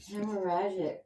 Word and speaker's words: hemorrhagic: Hemorrhagic. Hemorrhagic. That's how you pronounce it.